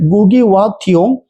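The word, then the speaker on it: Ngũgĩ wa Thiong'o: Then Yan Gugi Wa Thiong, Yan is silent. Gugi Wa Thiong, weep not child, weep not child.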